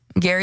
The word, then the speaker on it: Gary: have a website Gary calm my name is Gary like Gary Coleman calm and for this